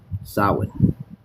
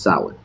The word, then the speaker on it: Samhain: This is Samhain. It's not Sam Hain. It's not a first nor a last name either. It's pronounced Samhain.